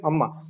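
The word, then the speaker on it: அன்னை: It is written as annai, but it is pronounced as amma.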